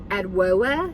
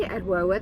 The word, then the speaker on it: Adwoa: a new brand, and please forgive me if I mispronounce it, but I think it's Adwoa Beauty. Adwoa, that's how I think it would be pronounced.